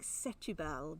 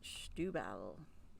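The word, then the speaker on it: Setúbal: don't if you say on the bottle it looks like setubal but you pronounce it schtubal probably doesn't but that's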